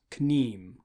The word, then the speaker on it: kneem: You'll see KN next to each other, and unlike English, it won't just be the N sound, you'll pronounce the K. It's pronounced as written. So that is kn, kn.